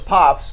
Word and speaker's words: Popps: clearly in the comments it's popped we know it's pops but um yeah the last name is pops yeah oh yeah I